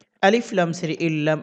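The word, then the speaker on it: إِلَّا: আলিফ লাম সের ইল্লাম আলিফ সাবুল্লা এক আলিফ টানতে হবে, জবরের বাম পাশে খালি আলিফ এজন্য ইল্লা।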